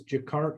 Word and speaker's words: Jacquard: Can you tell us about this Jacquard loom, which I mispronounced earlier, but what does that do for you versus a standard loom?